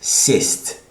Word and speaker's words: сесть: And this is сесть.